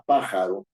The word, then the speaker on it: pájaro: en la antepenúltima sílaba yo digo la palabra pájaro no digo pájaro ni pajarón No es cierto digo la palabra pájaro Y si digo la palabra pájaro No es cierto la fuerza de la voz está en la antepenúltima sílaba si yo digo la